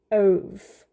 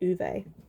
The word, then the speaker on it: Ove: Shuggy Bane, Empire of Pain, and A Man Called Ove. Whew, or Uwe, sorry, I think it's actually pronounced Uwe. And they changed it for the film.